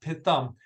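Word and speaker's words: Pithom: we actually pronounce it pitom is the god atom but it's a pitom uh and that's actually pronounced pit thumb and we're very very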